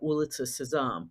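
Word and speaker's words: Улица Сезам: Sesame Street in Russia ulit saam which is how you say the name of the show in Russian and um we had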